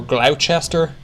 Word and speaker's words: Gloucester: Every spring in Gloucester, England, or Gloucester, as I'm sure people pronounce it, participants chase this food